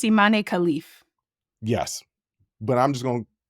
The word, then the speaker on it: Imane Khelif: um thoughts on this so ammane kof I I looked it up that's not the proper way to pronounce it I memorized it and still screwed it up and I'm gonna screw up a lot of these nam I think it's immane khif yes but I'm just